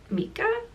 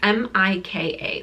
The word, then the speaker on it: Mika: main character I believe her name is pronounced Mika it's m-i-k-a so it's Micah or Mika Micah and she is a witch